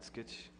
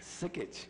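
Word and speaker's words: Sikich: How many jobs at Skitch, or how you pronounce that? Sickich? Sickich. Yeah, it's an accounting firm.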